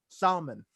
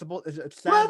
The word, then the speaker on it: salmon: I It's, still to this day I pronounce salmon with the L, salmon, that's because what I say, Salmon. yeah, because I guess you're not supposed to say the L. It's salmon What?